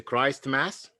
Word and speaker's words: Christmas: So it's a Christ Mass. No, it's Christmas. Christmas.